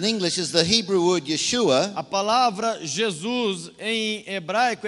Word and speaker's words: Yeshua: But when you say his name in Hebrew, Mas quando você fala o nome dele em hebraico, Yeshua, Yeshua means salvation.